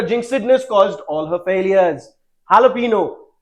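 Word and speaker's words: jalapeño: Jalapeno. इसका pronunciation jalapeno होता है जो एक Mexican pronunciation है because that is where it comes from.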